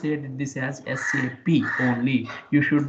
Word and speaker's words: SAP: based company in Germany in Germany whatever the sap is there we should not pronounce it this sap as sap why because